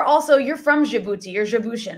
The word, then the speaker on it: Djiboutian: You are also, you're from Djibouti, you're Djiboutian, right? Is that how I pronounce it? Djiboutian?